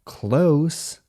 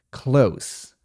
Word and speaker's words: close: Jednak wymowa słowa blisko, close jest nieco inna. Tam mamy końcówkę bezdźwięczną. Close.